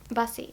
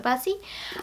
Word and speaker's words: Busse: Busse. I think that was, it rhymes with fussy, I think is what I've been told. So Busse.